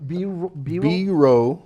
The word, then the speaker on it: Biro: guy that's biro brindle he's a biro be wrong be like B row like ROH basically it's bro that bro okay beer oh god